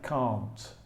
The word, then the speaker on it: can't: the pronunciation of can't I say can't because I'm from England the pronunciation in American English is slightly different actually I I can't